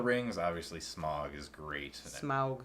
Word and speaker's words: Smaug: obviously smog is great smaug smaug is i feel weird saying it like this that's how you're supposed that's how tolkien says you're supposed to pronounce it how dare i